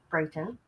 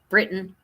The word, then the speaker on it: Britton: Kadesha Rose Brighton or is it Britain? Britain.